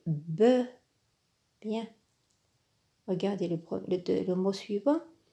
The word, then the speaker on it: bœufs: Attention, pour le mot œuf et bœuf au pluriel, le F ne se prononce pas. On dit un œuf des œufs. Un bœuf des bœufs.